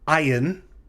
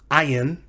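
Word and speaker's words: ayin: our so-called silent consonants this one is called ayan ayan and the ion is said to be silent in many biblical hebrew grammars but again more technically it's a glottal stop modern hebrew speakers some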